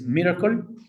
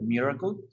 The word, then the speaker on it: MRKL: Y esta primera arquitectura que te quiero presentar es Miracle, así se pronuncia, MRKL, Miracle, y tiene tres componentes principales.